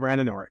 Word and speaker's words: randonneuring: it's a it's a it's a sport called randor it's a non-competitive sport right yeah I mean